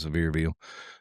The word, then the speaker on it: Sevierville: I think it's how you say it, Sevierville.